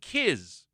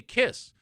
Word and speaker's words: Kiss: years of his existence, he called them Kiz. Kiss. Cuz it's it looks like K I Z.